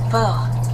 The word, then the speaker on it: porc: You really gotta barely touch that C at the end.